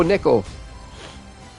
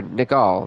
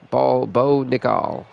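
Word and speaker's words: Nickal: As the 8-1 champion Jack Hermanson takes on the debuting Bo Nickel. Or Nicol, there we go. Bo Nicol.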